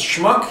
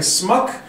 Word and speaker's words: schmuck: a whole scene where he can't pronounce schmuck he keeps saying smuck that's up there with